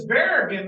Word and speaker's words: Barragan: it it's just wow it's bear again not barragan it's the same thing